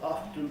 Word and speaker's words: often: we don't and so don't try and put the tea back into the word softness or any other word of that sort except the word often you can make your own decision about that an interesting date matter